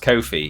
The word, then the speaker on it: Ko-fi: It's pronounced Kofi even though they're their own even though their own texttospech robot doesn't pronounce it properly.